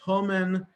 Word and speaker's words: Haman: Because Haman pronounced human, mun is poppy.